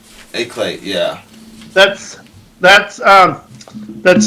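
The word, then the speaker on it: éclat: e CL a t eclad or EAD or whatever that's pronounced a clay yeah that's that's um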